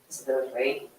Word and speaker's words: здравей: Zdravej. Zdravej. Zdravej. Zdravej. Zdravej. That means wish you good health. Ah. Zdravej means wish Zdravej. you health. It comes from the word health, zdravej.